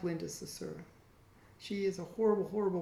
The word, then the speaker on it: Sarsour: I can never say her name correctly for some reason, but Sarsour, there it goes.